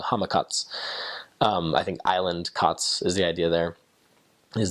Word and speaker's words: katsu: One of my favorite things was katsu. I mean, Americans say katsu kind of strongly. You can find that at like kind of islander type restaurants here. We would just say kats, like chicken kats, pork kats, tonkatsu, like different things like that.